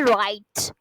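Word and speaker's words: write: बेटा क्या होती है राइट डब्लू से य व स्टार्ट जरूर हो रहा है लेकिन हम इसे प्रोनाउंस करते हैं राइट ठीक है राइट लेटर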